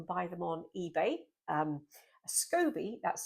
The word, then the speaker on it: SCOBY: Um, scobby, that's spelled S C O B Y, stands for a symbiotic culture of yeast and bacteria or bacteria and yeast.